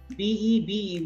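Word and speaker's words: bébé: But my objective was to make you understand in case there is this particular sign above E, then the pronunciation would be A. So, bebe.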